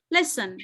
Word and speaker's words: listen: Ini ada, kalau saya bilang listen, itu ada silent letter kah? Ada, Miss. Apa? Silent letter apa? T. Betul. Jadi kalian tahu ya sekarang, mungkin kamu udah tahu bahwa listen itu T-nya nggak dibaca, tapi kamu nggak tahu itu apa.